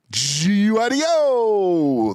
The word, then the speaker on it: Guido: My name uh Judge G U I D O. Judge Uo. That's how I like to be pronounced when I come into the courtroom to be honest. Dear Judge Guideo, you were appointed as a judge.